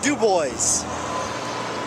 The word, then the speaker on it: Dubois: headed uh west here towards the town of dubois which is actually pronounced dubois but uh so i'm headed to dubois here